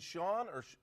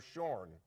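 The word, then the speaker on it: Shorne: So, and is it Sean or Shorn? It is Sean.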